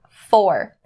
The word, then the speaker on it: for: Now the pronunciation you need to be aware of is upon the word for. If you're saying this phrase slow, then of course you're going to say for, enunciated and not changing it at all.